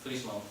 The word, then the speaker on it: Friesland: Friesland. Friesland. Everybody say Friesland. Sort of roll the R. It's not like Friesland.